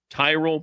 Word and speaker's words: Tyrol: You spell it Tyrol. Tyrell pickleball shoes, the best pickleball shoes, purpose-built for pickleball.